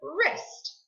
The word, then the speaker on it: wrist: We hear the R. The W is silent.